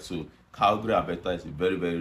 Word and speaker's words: Calgary: So, it's pronounced Calgary, Alberta.